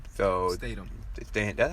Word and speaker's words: Statham: is a spinoff with The Rock and Jason Strahan. So Statham. Statham. That's how you say it, Statham? Yeah, Jason Statham. I've been pronouncing this man's name wrong for years.